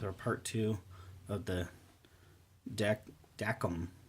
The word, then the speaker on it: Dacom: part two of the deck deckum that's how you actually pronounce these deckham lancer 2 uh in-ear